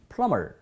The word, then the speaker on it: plumber: 화장실 막히면 바로 불러야 되는 분들이 바로 플러밍 하시는 plumber. K. 두 번째 것은요. C, 철자 C도 묵음이 될 때가 있어요.